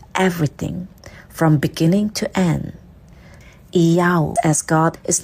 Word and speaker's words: IAU: The Yod as Iota, Hey as Alpha, and Vav as Omega, pronounced as Iyau.